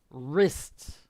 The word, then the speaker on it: wrist: is your wrist okay the w is silent wrist and on your wrists